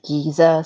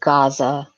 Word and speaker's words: Giza: The ones about jewels being hidden in the Great Pyramid of, some people say Giza, some people say Gaza. It depends on what kind of pronunciation you want to adopt.